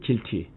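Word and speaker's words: GILTI: 발음은 길티.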